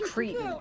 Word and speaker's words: cretin: Actually, it's pronounced cretin.